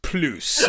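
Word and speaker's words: Plüs: Damon Bruce ploos or p-l-u with umlots so yes we say Damon Bruce plus and then once you get introduced once you become part of the initiated you understand it's actually pronounced Blues so we'll you know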